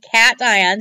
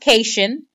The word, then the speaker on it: cation: a cat ion okay cation CA tion that's the name for a positive ion it's not pronounced ocation it's pronounced cat ion because it comes from an electrochemistry word called the cathode and ion a ni